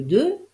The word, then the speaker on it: deux: la réponse est le 2 et le 3 effectivement le 2 se termine par un X mais il ne se prononce pas tandis que le 3